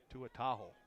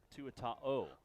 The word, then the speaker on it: Tuataho: help me with Trende Tuataho. Did I say it right? 95. The Polynesian name. Trende Umi Tuataho. Oh. Yeah, there's no H. No. He's not a Chevy truck.